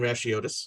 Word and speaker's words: Racheotes: My name's Racheotes. I do appreciate Kara's attempt at the kind of more Greek pronunciation, but my Blast, name and I practiced. is happily Americanized.